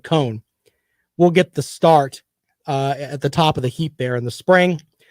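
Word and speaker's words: Coan: I think it's Cohen, C-O-A-N. I think you pronounce it Cohen.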